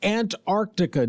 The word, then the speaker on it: Antarctica: Antarctica day somewhere there's got to be a district court judge who can take care of that for us perhaps. Yeah. And it's Ant Arctica Day.